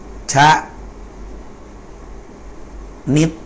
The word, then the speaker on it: ชนิด: เช่น ดู นะ ครับ ชะ นิด อ่าน ว่า ชะ นิด นะ ครับ ชนิด นะ ฮะ นะ อ่า